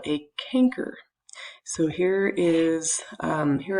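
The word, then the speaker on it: chancre: move that picture um this canker and that's spelled weird c h n c r e canker um this develops at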